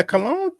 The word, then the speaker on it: Colon: Yeah, Cologne played decent, man. That because that's how you pronounce his name. It's Cologne, not Colon. He's not a body part.